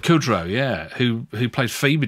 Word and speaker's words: Kudrow: for this only this digital laser is it pronounced Kudrow Kudrow yeah who who plays Phoebe did she I